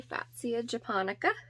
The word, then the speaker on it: Fatsia japonica: like so first off this is a fatsia japonica yes i said that right because it gives me a cute little phonetic spelling of it so i think that's how you say it so it's classification the